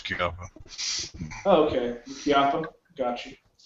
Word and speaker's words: Chiappa: Assuming that's how you pronounce Chiappa.